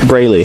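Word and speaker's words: Breleigh: I'm hoping I'm pronouncing it right. Braley.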